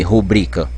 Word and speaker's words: rubrica: Não precisa o acento no I, rubrica. Ela já é paroxítona terminada em A.